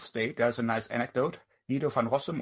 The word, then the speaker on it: Guido van Rossum: Guido van Rossum, or probably if you pronounce it Dutch, it's Guido van Rossum.